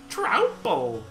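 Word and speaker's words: Troupple: You've never heard of the Trouple King, half trout and half apple, pronounced like mouthful, Trouple.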